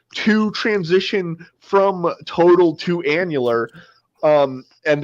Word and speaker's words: annular: transition from Total to annular um and the emphasis by the way is on the first syllable as far as I know um uh from Total